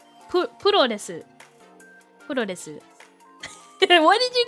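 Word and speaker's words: プロレス: The word cosplay comes from costume and play, and pro wrestling is puro desu.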